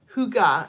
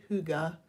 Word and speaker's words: Hygge: It's called Hygge, at least that's how they say it's pronounced, Hygge.